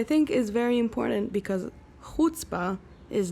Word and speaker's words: chutzpah: we're gonna talk about hutzpah what is she it's our podcast she already has hers yeah the name of our podcast hutzpa time that's how you say it time so it's a